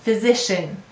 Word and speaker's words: physician: this let's read it physician now you often hear uh at the end in an unstressed syllable and that's what happens